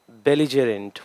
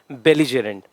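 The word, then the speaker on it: belligerent: Once again pronunciation, बेलिजेरेंट। What? बेलिजेरेंट।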